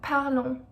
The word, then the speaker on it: parlons: Nous parlons, nous parlons. You don't pronounce the S at the end.